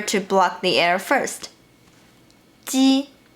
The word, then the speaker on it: 鸡: The difference between 鸡 and qi is that qi is aspirated and ji is not.